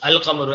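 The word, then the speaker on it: القمر: No such assimilation takes place with the lunar letters. Example, al-qamaru, the moon is pronounced al-qamaru as it is.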